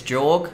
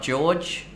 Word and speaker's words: Jorg: I think it's Jorg, not George.